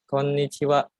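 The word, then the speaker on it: こんにちは: Sensei untuk baca ya Konichiwa Konichiwa Indonesia Adha di sini ada penekanan ya di huruf n-nya karena hurufnya ini double ada kok koe nichiwa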